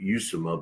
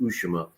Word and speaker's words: Lima: I was saying Usama, but I guess it's pronounced Ushima.